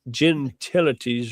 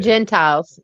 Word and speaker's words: Gentiles: I can't say gen gentilities or something like that. Come to Christ. I forget I forget how you say it. Gentiles. Gentiles. Gentiles. Gentiles. Thank you.